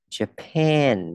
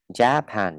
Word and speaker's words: Japan: Japan. Ok, chỗ này mình đọc là e bẹt ha, anh biết ha. Và trọng âm dư vào âm pen. Japan, đọc mạnh âm pen ấy. Japan, không đọc là Japan nhé, không. Đó là Japan.